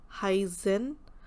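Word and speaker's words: heißen: German word Heisen. Pronunciation is EI sounds like I and double S.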